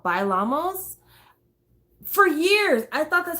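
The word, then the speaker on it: Bailamos: pronounce that word because he pronounces it totally different than what you would pronounce it if you were saying it in a sentence so if you were saying vailamos in a sentence you'd be like violemos that that'd be how you say it but in the song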